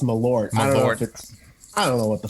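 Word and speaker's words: Malört: Have you had Mallard from Chicago? Yeah. I've heard it pronounced Malort.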